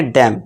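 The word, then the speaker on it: damn: इस तरह देखिए एम एन फिर से है, तो यहाँ पे क्या हो जाएगा, हमारा एन साइलेंट हो जाएगा। तो इसे हम डैम नहीं पढ़ेंगे, इसे हम क्या पढ़ेंगे, डैम।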